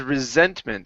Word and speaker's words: resentment: word for you is resentment so this s here is an UNO sorry is a voiced s so instead of saying resent it's resent resentment resentment the widespread resentment of